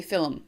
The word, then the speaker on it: film: the way I say film. Instead of film, I don't know if I can say it properly. Film, you know, for like a movie, we use 2 syllables.